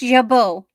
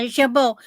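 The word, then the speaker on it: jabot: Oh, it's pronounced jabo. It's okay, that makes more sense. Yeah, jabo.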